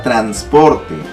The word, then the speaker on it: transporte: 5 en la palabra transporte transporte otra vez caemos en el error de escuchar mal como pronuncio yo digo transporte yo digo transporte transporte transporte aquí está la mayor fase de voz no lleva tilde está acabando